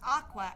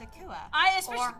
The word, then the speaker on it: Akua: blank with her name aqua or akua as i said actually my friend thought that it might be pronounced aqua afterwards but yeah it's akua aqua and if she